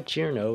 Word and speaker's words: Cirno: This is why Chur-no is the best pronunciation. It's based on the Japanese pronunciation, reasonable for the English spelling.